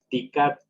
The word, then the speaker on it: dicat: Dicat, ¿cuál pronunciamos más fuerte? La I.